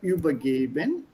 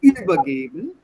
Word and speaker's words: übergeben: When you read this word übergeben, I would like you to stress the second half of the verb and not übergeben, but say übergeben.